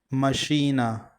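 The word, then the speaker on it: машина: Stress is on the second syllable. Machina.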